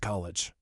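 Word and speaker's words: Colewich: She knew the town which the locals pronounced college.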